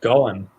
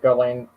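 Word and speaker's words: Gullane: Oh, pronounced Gullen. I pronounce it Ghislaine.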